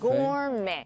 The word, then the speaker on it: gourmet: Don't pronounce the T in these words.